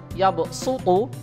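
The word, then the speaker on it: yabsuṭu: Jadi tulisannya shad yabsutu, tapi cara membacanya shadnya harus dibaca sin, yaitu yaqbidu wa yabsutu.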